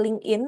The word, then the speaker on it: LinkedIn: Eh, teman-teman yang belum punya seperti Linkin, LinkedIn gitu ya, bacanya LinkedIn eh baca bahasa Indonesianya LinkedIn, Linkin gitu bahasa bahasa ininya gitu ya, bahasa populernya.